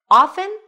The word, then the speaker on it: often: Often or often? So, obviously, if it's on this list, then both pronunciations are correct. In fact, in Old English, the T was always pronounced often.